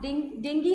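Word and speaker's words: dengue: ये डेंगू नहीं होता भाई, डेंगू होता है ना उस टाइम बोलते हैं, डेंगू नहीं डेंगी होता है, डेंगी। प्रोनाउंसिएशन थोड़ा सा अच्छा बोला करो।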